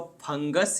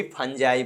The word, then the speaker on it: fungi: तो study of फंगस या फंगी या फंजाई। कुछ-कुछ का प्रोनाउंसिएशन जो है चेंज रहता है। कोई फंगी बोलते हैं और कोई फंजाई बोलते हैं।